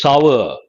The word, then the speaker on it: sour: It is not sour, it is sour.